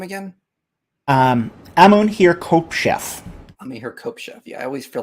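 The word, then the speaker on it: Amun-her-khepeshef: Amun-Hir-Kopshef. Amun-Hir-Kopshef. Yeah, I always feel like I'm not the best at pronunciation when it comes to Egypt.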